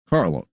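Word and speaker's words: Karlos: Carlos spells his name with a K. And when you said Carlos, I just thought C. And that's not. It is pronounced Carlos.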